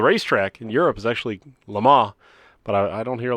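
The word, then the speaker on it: Le Mans: Lamar what do you call it it's actually pronounced so the racetrack in Europe is actually Lamar but I don't hear a lot of people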